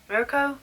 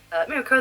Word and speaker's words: Mirko: I'm going to say Mirko. Mirko? I'm pretty sure that's how they say her name. Mirko the rabbit hero.